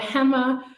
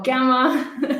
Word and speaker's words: Gemma: I just want to the pronunciation is Gemma although I'm called hammer or gamma lots of different ways of pronouncing my name I'm fine with any of them but it's Gemma technically and I am from the